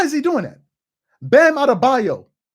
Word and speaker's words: Adebayo: he doing that bam adabayo adebayo is a euroba nigerian name just because it's easy